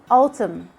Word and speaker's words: autumn: like when you say autumn you only stop at the sound of the m we just ignore the n column condem which means